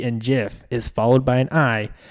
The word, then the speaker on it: GIF: oh yeah the group grammatically it's pronounced Jeff is what I put so here is the G coming after a vowel rule the hard G pronunciation of the letter G comes when a o or you follows it examples gasp good or guy we pronounced G's as a soft G when I II or Y follow it giraffe German